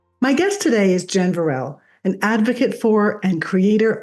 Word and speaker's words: Veralle: And to clarify, the pronunciation of my last name is Veralle, and I'm it's so sorry.